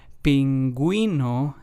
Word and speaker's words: pingüino: So, as we can hear the u with the two dots, the dieresis accent mark in Spanish helps us give that gui or güe sound and pronunciation in words. In pingüino it would be the gui sound and then in bilingüe it would be the güe sound.